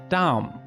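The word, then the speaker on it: דם: adom while blood looks like this and it's pronounced dom but red's bloody beginning has transformed over millennia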